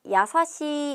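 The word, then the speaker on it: 優しい: 돼요 우리 상냥하다라는 이형용사 야사시 있니다 상냥하다 야사시 시하고 길게 발음해 줘야 돼요 같이 발음해 봅니다 야사시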